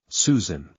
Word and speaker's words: Zschüschen: I had to correct people on the pronunciation. No, it's Susan.